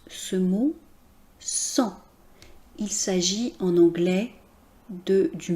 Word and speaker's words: sang: Vous noterez donc qu'on ne prononce pas le G final. Ce G final nous donne cependant des indications sur la famille de mots, le champ lexical du mot sang.